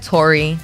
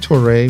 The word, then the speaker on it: Touré: Hey, All right, Alexander Wang, Brennan Fromm, David Touré, we said Tori. Touré. I think Touré. Toure. I think it's Touré. French.